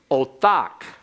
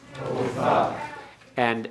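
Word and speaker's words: אותך: And actually, excuse me, that's pronounced wrongly. I got ahead of myself. That's feminine singular. It's othaka. Othaka. Othaka. Right, because you have an open syllable, the holum. And then you have the tau, the bagad kafath letter, without a dogish.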